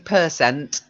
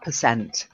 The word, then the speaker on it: percent: your way of pronouncing person it's not quite correct because what we're not talking is like per dollar we're talking about percent stress is slightly different so it's sixty-two percent